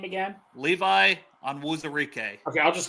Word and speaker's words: Levi Onwuzurike: Pronounce his name again, Dale. What's his name again? Levi Onwuzurike.